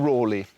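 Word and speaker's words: Raleigh: And it was here in 1552 that saw the birth of Sir Walter Rally or Rory or depending on how you pronounce his name.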